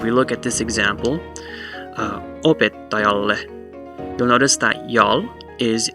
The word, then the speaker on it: opettajalle: in a consonant, and so while ta would normally be the secondary stress since it's on the odd syllable, it's followed by that heavy syllable, so the secondary stress moves over one to the right and it becomes opettajalle, da da da da da da da da da da, opettajalle.